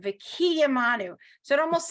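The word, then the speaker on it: וְקִיְּמָנוּ: Whenever you have a dot inside the consonant, that's where they want you to pronounce the word, right? So higiyanu, right? Lazman hazeh. So here it's v'kiyamanu. They want you to emphasize the yud, v'kiyamanu.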